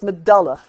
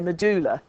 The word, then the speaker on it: medulla: you think about it that word that bit in the middle is dull its medulla it's yeah but a lot of people say medulla and I've heard it